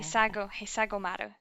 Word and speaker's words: Hisagomaru: Which is, I'm going to butcher the name of this, I'm going to try and say it right, Hisagomaru. Hisagomaru. Hisagomaru? Yeah. Hisagomaru, yeah.